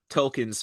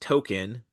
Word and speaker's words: Tolkien: So he invites Tolkien's family in to discuss this, and this is where we learn that it's not pronounced token, It's pronounced Tolkien.